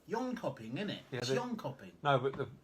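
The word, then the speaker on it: Jönköping: tomorrow early start uh to in copy which is the incorrect pronunciation apparently lean copy in hopping or something John Copy yon copying in it yeah no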